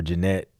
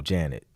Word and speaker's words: Janet: And it looks like we got Janelle, B Ward, Janet, or Jeanette. No, Janet. I'm tripping. I have an auntie named Jeanette, but it's not spelled like that. That's spelled like Janet.